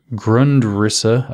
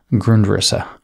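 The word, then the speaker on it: Grundrisse: another work by marx gundrus or grundrissa i can't pronounce things in german uh g-r-u-n-d-r-i-s-s e grundrissa he says not only do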